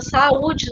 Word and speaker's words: saúde: Fica saúde, né? São 3 sílabas. É uma palavra que tem 3 sílabas e a gente separa, percebam que fica saúde.